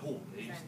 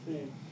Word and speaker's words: Hu: Yeah, Hu. W-H-O, Hu.